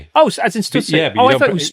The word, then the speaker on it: Stussy: Oh, as in Stussy. Oh, I thought it was Stutsy.